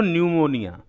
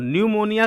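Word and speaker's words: pneumonia: पी एन ई यू एम ओ एन आई ए यानी निमोनिया का spelling N से शुरुआत नहीं होता पी से शुरुआत होता है।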